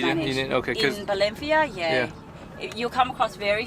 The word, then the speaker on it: Valencia: But Valencia. Yeah. Oh, and I noticed how you said it's "ba" and not Yeah, "va." so I speak a bit like the locals here.